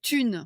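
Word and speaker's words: Thune: J'adore un podcast qui s'appelle Tune. Tune. OK. Ça s'écrit quoi ?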